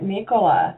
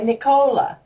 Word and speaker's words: Nicola: from shopping, I said, make sure you say her name right, Nicola. Don't say Nicola.